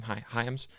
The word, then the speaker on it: Hyams: Hyams, is an LSU fan and Saints fan because he's from Louisiana.